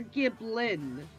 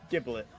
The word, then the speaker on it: Giblet: Did you say Giblet or Giblin? Giblet. Is Giblet spelled like giblet? It's like if you were going to turn a Gibble into a nugget. You would have a Giblet.